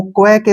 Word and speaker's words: quake: यहाँ पे QU का जो उच्चारण है वो क्वे के रूप में होता है, ठीक है ना, क्वे। और ए का जो उच्चारण है ए की मात्रा बन जाएगा और के का उच्चारण कै होता है और ई का उच्चारण हम कभी नहीं करते हैं।